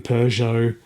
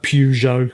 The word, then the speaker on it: Peugeot: Uh meanwhile legacy brands like Volkswagen Peugeot or Pujo I think if you're American and you're wrong but that's how you say it.